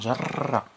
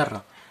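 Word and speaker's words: جرّ: لاحظ كيفاش تنطق، لاحظ كيفاش تنطق، جر ماشي جر، جر شارنو صديقه من يده، من يده.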